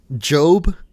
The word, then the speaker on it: GOB: bad days even yeah there's a job which is spelled gob by the way it's gob but but his name